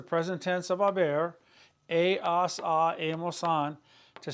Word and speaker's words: hemos: Now the present tense, verb number 3 of haber, is has, hemos, han. Remember the H is silent, but in written form you must have the H.